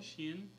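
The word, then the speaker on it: SHEIN: Sheen, Shine, honey, do you know how to pronounce it? Sheen? Sheen.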